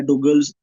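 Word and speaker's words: Douglas: तो माउस के जी फाउंडर कौन है, ये नाम है डुगल्स एंगलबार्ट। ठीक है, अब अंग्रेजों के नामों की प्रोनाउंसिएशन आगे पीछे हो सकती है, इसको डॉगलस भी वर्ड पढ़ते हैं, डुगल्स भी पढ़ते हैं, एंगलबार्ड।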